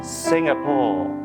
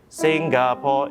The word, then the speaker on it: Singapore: And note that the way I sing Singapore is not Singapore, it's always a silent G sound. So you have winding through my Singapore.